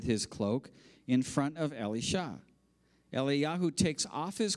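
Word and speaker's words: אלישע: is Eli Yahoo and Ellie Shaw that's how you would pronounce Elijah Ellie Shaw his Apprentice Eli Yahoo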